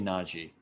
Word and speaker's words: Najee: or not j that i forget the pronunciation he said it and made it the reporter sounds stupid and i forget it but it might be nagi so i i have a